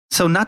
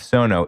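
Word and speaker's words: SoKno: so everybody knows the the neighborhood name of sono is spelled like like knoxville so it has the k in it so it's s-o-k-n-o i think that's an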